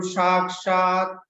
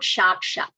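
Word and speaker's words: साक्षात्: So, Bahu samyak, atra pashyatu, sakshat, not shakshat. Okay? A little bit of attention. Sakshat, sakshat. Sa or sha mein antar hai. There is a lot of difference. Sa, sakshat.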